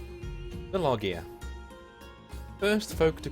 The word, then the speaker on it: Llogeyr: the log year and you say the word loggia in the Welsh way which is the loggia ain't that a Welsh pronunciation of the lost lands or